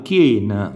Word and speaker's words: chien: Per esempio, se scriviamo chien, leggiamo chien, vedete, in questo caso IE vengono scritte e lette per intero, chien, quindi è soltanto